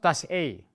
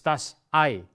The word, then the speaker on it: Ei: It's not das A, it's das Ei.